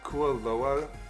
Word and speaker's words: Kualoa: I think it's pronounced Kualoa, like Kualoa Ranch.